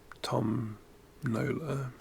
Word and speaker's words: Tom Nola: My name Tom Nola rhymes with tombola especially with my accent.